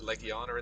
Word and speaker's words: Legiana: I call it the Legiana. I think they pronounce it Legiana in the game.